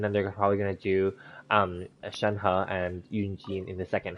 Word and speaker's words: Shenhe: now in early patches, people were saying her name was Shen Li with an L, and now it's actually, I think it's Shen He, H-E. So, I know some people are pronouncing it Shen He, but I think in Chinese it's He.